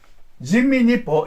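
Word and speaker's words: 人民日報: It said that the Chinese communist paper, Jinmin Nippo in Japanese, Renmin Ripao. This is the Chinese pronunciation.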